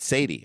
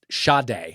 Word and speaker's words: Sade: Why is it Sade and not Sadie? All right, go ahead. Yeah. Deputies responded and found Do you know it's Sade because of a typo? Someone said It's pronounced Sade. Sade.